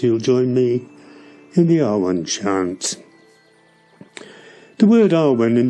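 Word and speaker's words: Awen: Alban is chanted as 3 syllables. A-U-Wen. Alban.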